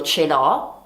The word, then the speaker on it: ce l'ho: La pronuncia è io ce l'ho, tu ce l'hai, lui o lei ce l'ha, noi ce l'abbiamo, voi ce l'avete e loro ce l'hanno. Ricordate tra l'altro che l'H è muta in italiano, quindi si